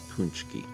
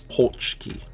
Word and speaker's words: pączki: Other Other pronunciations apparently are pulchki. Pulchki. Where the the a is pronounced like the o in bone.